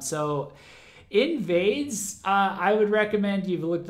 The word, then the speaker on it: NVDES: It's spelled again NVDES. So literally invades, but without all of the vowels, including the I at the beginning, but leaving the ES at the end.